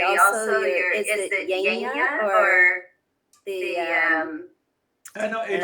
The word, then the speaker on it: Yajna: Oh, yajna.